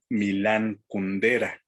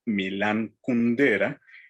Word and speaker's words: Milan Kundera: en su propio país y acentuar el nombre como si fuera grave milán y el apellido como si fuera estructura desde una palabra esdrújula kundera entonces en vez de ser milan kundera ellos lo que dicen es milan kundera entonces si me oyen